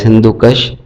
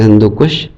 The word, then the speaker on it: Hindu Kush: Hindu Kush range is pronounced by some people as Hindu Kush, but its correct pronunciation is Hindu Kush. Kush is an Urdu word as it is used in some phrases as Khud Kush.